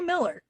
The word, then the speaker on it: Millar: get so you're really Miller okay even though there's an a my maiden name is